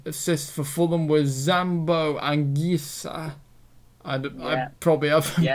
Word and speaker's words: Anguissa: And then assists for Fulham was Zambo Anguissa. I probably haven't pronounced that you name right.